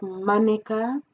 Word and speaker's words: mannequin: And in the world of fashion, we've got mannequin, which in French we pronounce as mannequin, which can refer to this, the mannequin, or elle est mannequin.